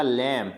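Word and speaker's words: lamb: बी आ रहा है, तो यहाँ पे बी साइलेंट हो जाएगा, इसको बोला जाएगा लैम।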